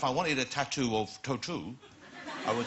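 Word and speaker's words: Tautou: because I have always been saying all week tattooed but now we know it's total yeah do you have a I don't but now I know if I wanted a tattoo of total I would say can I have a tattoo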